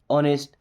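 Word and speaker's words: honest: यहां पे H silent. Okay? ऑनेस्ट। You should be ऑनेस्ट।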